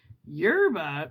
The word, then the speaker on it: yerba: Yerba, pronounced yerba, is the Castellano word for herb.